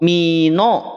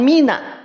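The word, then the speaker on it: مِنَ: minallah jelas enggak minallah Mino jadi Mino bukan Mina sedangkan Nun itu dia punya karakternya apa tipis istifal sifatnyaon mustilan minahufin itu dalilnya maka Mina pastikan nunnya tipis dulu Nun pastikan tipis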